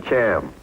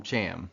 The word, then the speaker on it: Chaim: Weitzman's first name was C-H-A-I-M, and I didn't know how to pronounce it, so I called him Cham, called him that to his face, and he liked it.